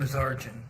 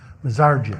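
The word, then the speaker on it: Mazarjian: Mazarjan. Mazarjan. It's a good Armenian name.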